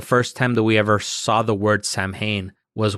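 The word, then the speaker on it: Samhain: myself included the first time that we ever saw the word Sam Hayne was when danig came out with the band Sam Hayne and I think most people pronounce it Sam Hayne just because nobody had ever seen or you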